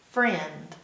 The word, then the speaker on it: friend: friend let's be friends the IE in friend is making the a sound but it's not making the I sound like I or I it's not making the e sound it's making the air air which isn't really an